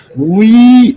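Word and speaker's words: 의: போட்டு காம்ப்ளிகேட் பண்ணிக்க தேவையில்லை இந்த உச்சரிப்பு என்னன்டா உ பல்ல கடிச்சிிட்டு சொல்லக்கூடிய உ அப்படிங்கற உச்சரிப்பையும் ஈ அப்படிங்கற உச்சரிப்பையும் சேர்த்து உய் அப்படின்னு சொல்லிருக்கேன்.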